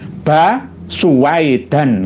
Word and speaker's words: Baswedan: Saya tadi kurang teliti Baswedan, tapi tulisannya bukan Baswedan maksudnya, Basuwaidan gitu loh. Tapi kadang-kadang bacanya Bas gitu loh.